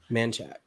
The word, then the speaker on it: Manchac: I want to do this to Manchac. People that aren't from around here, I don't know why you say it Manchac, but that's how you say it.